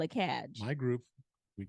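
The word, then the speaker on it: KAG: And again, it's not CAG. You can say CAG with a hard G. Cadge.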